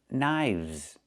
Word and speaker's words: knives: One knife, two knives. Again, with the VV sound plus the Z sound like in zebra.